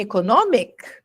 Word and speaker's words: economic: E, por exemplo, você vê que em economic, o I não tem som de I, mas em economize, o I tem som de I.